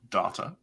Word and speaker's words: Data: Pulaski was terribly rude in that she refused to pronounce Data's name correctly. Data.